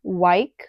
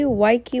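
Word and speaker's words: Weike: Okay, this is by, I don't know how to pronounce it. I will correct myself later. Wyke. It is actually Wykey Wang. Sorry if you can hear my neighbors.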